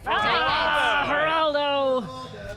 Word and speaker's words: Geraldo: Geraldo. Very soft G.